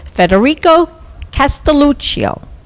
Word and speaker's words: Federico Castelluccio: I am with Federico Castelluccio.